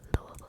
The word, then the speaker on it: Louisville: I think good night to l L Lou Louisville Kentucky and it's pronounced that way by the way good night